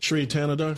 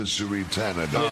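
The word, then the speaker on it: Shri Thanedar: Sheree Tanadar. Tanadar. That's right. Give it up to Sheree Tanadar.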